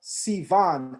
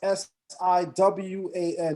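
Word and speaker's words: סיון: The month is called Sivan, S-I-V-A-N. In Hebrew, it's pronounced S-I-W-A-N, Siwan.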